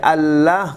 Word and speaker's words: اللہ: کے مطابق لفظ اللہ, قرآن کو اٹھا کے دیکھیں یہاں پہ زبر لکھا ہوا ہوگا, لیکن آپ پڑھیں گے الف کے ساتھ. ہجے میں تو آپ زبر ہی پڑھیں گے لیکن کھینچ کے پڑھیں گے.